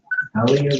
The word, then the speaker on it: Halia: This is Emma Halia Robinson. Is that the correct pronunciation?